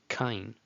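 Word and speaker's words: קַיִן: For the letter Kof, maybe somebody used the letter Q, and that's fine. as long as we're both saying kain.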